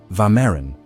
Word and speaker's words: Vamerin: Tonal engineer Vamerin, pronounced Va-mer-in to ease TTS cadence, stood as Volanfell's principal architect during this era.